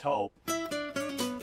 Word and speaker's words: Toop: Say it right. That's T-O-O-P. That's Taupe. Oh, it's Taupe.